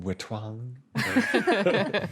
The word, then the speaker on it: Wetwang: It's pronounced Wetwang.